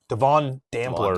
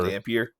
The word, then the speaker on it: Dampier: QB Devon Dampler. Dampier. Dampier. Devin Dampier. That's definitely an I in his name.